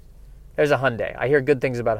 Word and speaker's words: Hyundai: believe that is correct it is Hyundai Hyundai not hi Ani but how are we